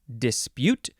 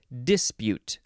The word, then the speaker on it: dispute: hey next is the second form of dispute or dispute emphasize either syllable noun from 1555 one